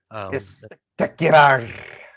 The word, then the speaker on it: Spectacular: Spectacular. As you have to roll your R's. Spectacular.